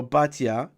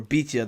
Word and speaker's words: Batya: The daughter of Pharaoh, Batya, or Bitya, there's two ways of pronouncing it, but in this case she's just called Bat Paro.